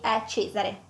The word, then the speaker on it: Cesare: un exemple d'un doux c donc Celestina et Cesare pour justement un enfant et D de Diana